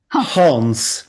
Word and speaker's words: Hans: You are Hans. Yeah, I know. Okay. You tend to drop the H. Okay. Same questions. I just would like to thank you Hans because well